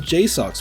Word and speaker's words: JSAUX: That's right, it's our very own JSAUX, makers of some of the best Steam Deck accessories on the market, and yes, that is how you pronounce their name.